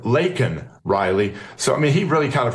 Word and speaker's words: Laken Riley: an illegal, but then mispronounced her name and called her Lincoln Riley instead of Laken Riley.